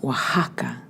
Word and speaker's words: Oaxaca: by De Luca Dino Oh a X a C a is pronounced Oaxaca originally the hotel where